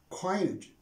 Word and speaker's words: coinage: it is coined coined coinage coin the stress is on the first of coinage now what do i